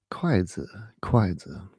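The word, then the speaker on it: 筷子: How do you say chopsticks in China? Kwaizi.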